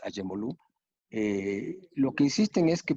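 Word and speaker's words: Acemoğlu: El nuevo institucionalismo a partir de Douglas North, y luego Daron Acemoglu, como acá en México se le dice, Acemoglu, la pronunciación turca es Acemoglu.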